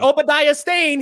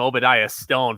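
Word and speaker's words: Obadiah Stane: bro yep i was i was pronouncing that name obadiah stone for the longest time and then somebody corrected me in the comments and i'm like good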